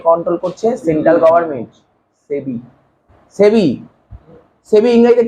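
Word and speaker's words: SEBI: সেবি। সেবি, সেবি ইংরেজিতে কি বলে বল? মানে সেবিটাকে ইংরেজিতে বল না, কি হয় বানানটা?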